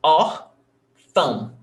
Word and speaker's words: órfão: You see that here, órfão, we have 2 syllables, órfão, and the stressed syllable is ó.